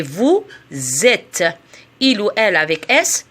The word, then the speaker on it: vous êtes: attention à la prononciation je fais la liaison c'est vous êtes il ou elle avait